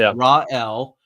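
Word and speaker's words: Raël: It's Rael, how they pronounce it in French.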